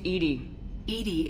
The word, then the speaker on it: EDI: why are you named edie is the phonetic pronunciation of edi that is an acronym for enhanced defense intelligence where are you my